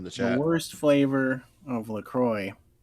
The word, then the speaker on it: LaCroix: worst flavor of LaCroix. That's how you pronounce it, right? I said LaCroix, but whatever. Because part of me wants to say Croix, but that's not right.